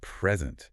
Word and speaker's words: present: But if you stress the second syllable present, it's a verb. The act of giving something.